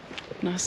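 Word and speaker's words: gneiss: Well, they look like they'd make some nice bench tops. Yeah, granite. It's all part of the granite family, I reckon. Well, that second one is pronounced nice.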